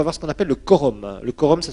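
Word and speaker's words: quorum: B on va voir ce qu'on appelle le Corum le Corum ça s'écrit Q u o Rum c'est un mot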